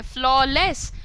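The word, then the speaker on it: flawless: फ्लॉ, लॉ बोल लेते हैं ना आप लोग, लीगल लॉ. सो फ्लॉ, उसमें एफ लगा दें, फ्लॉलेस.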